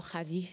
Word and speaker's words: Khadie: So my name is my name is Katie, or Hadi, if you can pronounce it in Arabic.